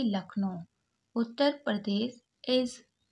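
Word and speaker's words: Lucknow: यू लक यहां पर you silent है सी के को का पड़ा और एन ओ ओ डब्लू को ओ पड़े यानी कि लखनऊ उत्तर प्रदेश इज द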